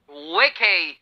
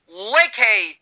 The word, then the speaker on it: vacay: अब इसका उच्चारण क्या है? इसका प्रोनंसिएशन है वेके। क्या कहा मैंने? वेके, वेके।